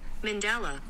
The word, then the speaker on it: mandala: what this says mandala mandala mandala she almost says Min though mandala okay so the emphasis is on the second syllable let's see what this